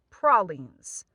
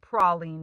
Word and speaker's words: praline: Please, for the love of God, pronounce it praline, not praline, because in my humble opinion, we know how to do them right. So you got to pronounce them like where they're from.